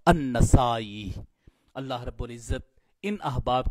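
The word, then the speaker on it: النسائي: اور آج ہم نے النسائی کا تلفظ جو ہے وہ ہم نے پڑھا نون کے زبر اور سین کے زبر کے ساتھ النسائی. اس لیے بعد احباب نسائی بھی اس کو پڑھ دیتے ہیں نون کی زیر کے ساتھ. تو جو اصل تلفظ محدثین کرام نے بتایا ہے وہ نون کے زبر کے ساتھ ہے النسائی.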